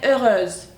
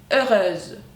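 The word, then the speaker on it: heureuse: çevirirken sonunda ö ü s ö olacak ve ööz olacak tekrar akıyorum ööz yani fark tekrar gör iin Yine okuyorum farkındaysanız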